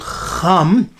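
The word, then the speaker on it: חם: Now they pronounce it as Cham, with a sort of a G sound, Cham.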